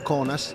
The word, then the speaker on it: Kaunas: A Kaunas, pronuncia locale Kaunas, il basket è ancora di più.